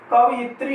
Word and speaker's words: कवयित्री: दोस्तों आगे देखते हैं इसमें कवियत्री। ये कवियत्री अशुद्ध शब्द है, और इसके स्थान पर शुद्ध रूप हो जाएगा इसका कवयित्री, कवयित्री, यानी यहाँ पर ये